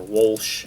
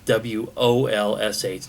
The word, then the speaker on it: Wolsh: So this is the most recent movie from Steve Walsh or Walsh. I don't know what the correct way to pronounce it is because it's Wolsh, not Walsh.